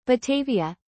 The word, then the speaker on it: Batavia: Batavia, Dutch pronunciation.